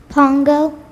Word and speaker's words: Pongo: you pronounce it again Pongo Pongo and I'm pronouncing it right say it again Pongo that sounds correct p o n g o